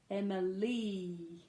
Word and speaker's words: Emily: Emily so and Malini has that long vowel sound e at the end so Emily okay Michelle now Michelle